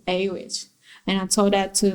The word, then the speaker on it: Awich: and then and then just took aw i see h and just pronounce it a witch and i told that